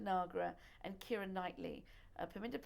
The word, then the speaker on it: Nagra: your star um and if you would please pronounce her name for me a piminda nagra paminda okay nagra was she a soccer player all the girls